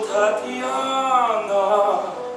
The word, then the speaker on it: Tatiana: It rhymes with banana. When I came here, I expected to run far, but then I saw the beautiful Tatiana.